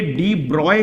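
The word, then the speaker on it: de Broglie: Matter and radiation, तो ये डी ब्रॉय के नाम से भी वहां पर जो है प्रोनाउंसिएशन किया जाने के लिए लिखा गया है फिजिक्स क्लास 12 सेकेंड पार्ट में।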